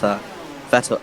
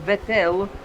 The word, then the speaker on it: Vettel: in 2007 of Formula 1, they used to pronounce Vettel as Vettel? I don't want to remember that. I just want to forget for sure. Yes. Don't want to What's wrong with Vettel?